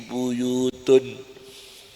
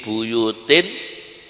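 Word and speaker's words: بيوت: Fi buyutun adinallahu an turfa'a. Fi buyutun adinallahu an turfa'a. Mestinya apa adik-adik? Fi buyutin adinallahu an turfa'a.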